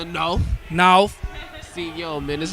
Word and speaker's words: Nawf: Emphasis on the Nawf.